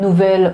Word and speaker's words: nouvel: Attention à ne pas confondre avec nouvelle de L e mais la c'est vrai que la prononciation est la même.